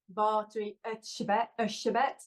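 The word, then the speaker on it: Erzsébet: about Elizabeth bori so in Hungarian that would be V shabet uh but I think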